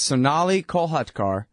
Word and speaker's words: Sonali Kolhatkar: the show today is Sonali kolhatkar and I'm sorry ma'am for not pronouncing your name correctly yeah you did you did perfectly oh really hey and